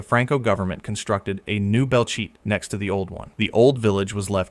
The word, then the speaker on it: Belchite: Number eight, Belchet, Spain, pronounced Belche.